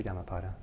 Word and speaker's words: Dhammapada: understanding is but yeah it has to be yamapada because it's it's two words it's dharma and pada and so you would